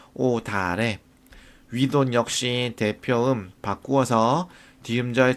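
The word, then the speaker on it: 옷 아래: 그런데 자, 실질 형태소가 올 경우에는 대표음으로 바꾸어서 1번 대표음으로 바꾸어서 뒤음절 첫소리로 옮겨 발음할 거예요. 그래서 오 뒤가 되고 오다를 역시 대표음으로 바꾸어서 뒤음절 첫소리로 옮겨 발음하니까 오다래.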